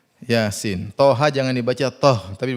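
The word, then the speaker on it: يس: mim dibaca ha mim Yasin jangan dibaca Yas dibaca apa Yasin thha jangan dibaca thh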